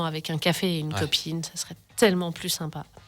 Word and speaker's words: KHopeIn: Alors ça s'appelle Cop-In. Pourquoi ce nom ? Qu'est-ce que ça veut dire ? Alors, littéralement, copine, il s'écrit K-O-P-I-N, parce que depuis plusieurs années, le K vient symboliser le cancer.